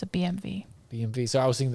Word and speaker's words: BMW: mean that's the sound that's how you pronounce the w oh gosh you guys are yeah it's a bmv bmv so i was